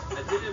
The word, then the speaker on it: Idina: You said it nice, Idina, and I like to say Menzel. It sounds like oil.